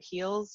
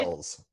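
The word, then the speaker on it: Helles: I'm going to mispronounce this probably, but Heels or Hell, yeah. It So is why Hells.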